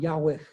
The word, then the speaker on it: Yahweh: But it's a raspy sound, Yahweh.